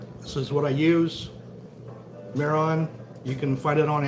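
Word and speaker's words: Mehron: Miron, you can find it on Amazon.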